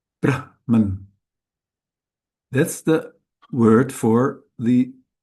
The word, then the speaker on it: Brahman: If we put the stress on the second syllable, that's a way to express the creator God, that aspect of Ishvara called the creator.